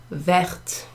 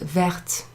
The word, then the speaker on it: verte: Une écharpe verte, not vert, but verte. So you pronounce the T when you add that extra E went to something that's feminine.